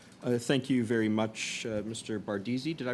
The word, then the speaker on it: Bardeesy: Bardizzi. Did I pronounce that correctly?